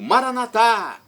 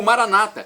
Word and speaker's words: Maranata: do aramaico Eu Clamo Maranata como dizemos nosso católicos com a tônica na última sílaba ou Maranata com a tônica na penúltima sílaba como dizem nossos irmãos separados os evangélicos ou protestantes não importa pronúncia do